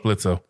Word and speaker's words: Blitzo: I think Blitzo. Oh, who doesn't? Hey, fuck you. The O is silent.